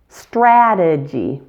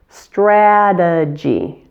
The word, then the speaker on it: strategy: The second syllable is a schwa, and the final Y is a long E sound. Strategy. Strategy.